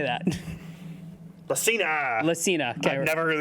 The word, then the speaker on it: Lacina: Lacna? I don't know. How do you not know his name? He's a vibe guy. You tell me. How do you say that? Lacina.